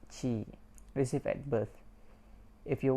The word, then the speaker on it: ki: The ki pronounced chi, received at birth.